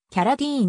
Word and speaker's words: Carradine: プロデューサー監督であるラストネームは日本ではキャララインとして広く知られているが米国ではキャラディーンに近い発音で呼ばれる同じく俳優であっ